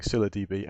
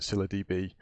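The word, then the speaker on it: ScyllaDB: enough but we obviously have been you saying Scylla DB and there are enough people that were saying Scylla DB which to actually make me feel like we're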